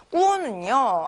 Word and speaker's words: 过: 자, 우선 꾸어, 사성으로 꾸어라고 읽으면 이때는 동사로서 지나가다 라는 의미로 활용이 됩니다.